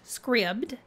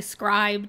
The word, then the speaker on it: Scribd: me just say it is pronounced Scribd I watched a video from the Creator and he refers to it as Scribd I know I've heard a couple people say scribed and Scribd it is Scribd so few questions what